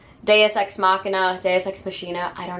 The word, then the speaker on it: ex machina: Latin it would be X makina right like I took Latin for years I think in the proper pronunciation would be they use ex machina but nobody says that so whatever um let's